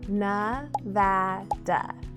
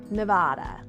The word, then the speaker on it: Nevada: It's pronounced Navada, not Nevada.